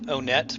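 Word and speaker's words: Onett: it's all very reasonable i know a lot of people who pronounce it o net but i think it should be want just because it's want and then the second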